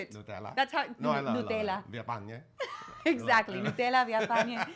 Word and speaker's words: Nutella: --Nutella is so much better with the accent on the --That's how you say it. --Nutella --Nutella --Villafane --Exactly Nutella Villafane.